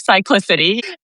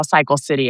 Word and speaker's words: Cyclicity: And once we did that and we tested it with users, everyone could pronounce it like Cyclicity. And so nobody saw Cycle City anymore, which is why we changed the name.